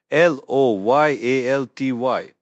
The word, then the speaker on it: loyalty: LOYALTY, pronounced loyalty. Don't forget the Y at the end that gives it the E sound. The OI sound is also key.